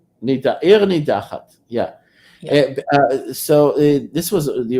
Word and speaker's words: Ir Nidachat: Ear nidachat.